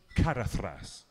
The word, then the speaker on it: Caradhras: pronounced Caradhras.